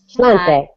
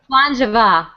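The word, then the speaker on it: sláinte mhath: Slante. We should do the cheers. What do they say? It's not slante or... Slancha. Slangeva. Slangeva. All right, Slangeva.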